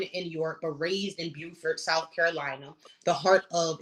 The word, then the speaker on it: Beaufort: Um, Sorry, she was born in York, but raised in Beaufort, South Carolina.